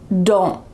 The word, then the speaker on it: don't: No, this is going to be the second rule, which uses just the stop T. Don't. My tongue is stopped at the top of my mouth.